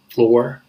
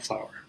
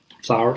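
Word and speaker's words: flour: But they never think that it's pronounced just like flower. Flower, flower.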